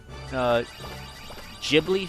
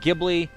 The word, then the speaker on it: Ghibli: bleep cuz I swear I was pronouncing it Ghibli and apparently it's Ghibli and I don't know I don't know Ghibli just makes you think of giblets I was like that